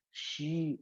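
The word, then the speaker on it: she: அவள் அப்படிங்கிறதுக்கு நம்ம எல்லாரும் சி இஸ் my friend, C இஸ் my mother, C இல்ல எஸ்ஹெச்இ ஷி அப்படின்னு.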